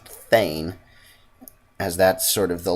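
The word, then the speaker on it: thegn: Oh, and I found out that the little P-E-G-N is apparently pronounced Thane, as that's sort of the lower level of ruler in Norse, or in the Norse society, I suppose is the right term.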